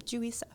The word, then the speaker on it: Juri Seo: I kind of was and now I can pronounce it right all the time julisa and this piece that I am I've been